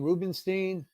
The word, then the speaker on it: Ruebenstein: Yeah, Tom, did you notice that he pronounced his last name Rubenstein?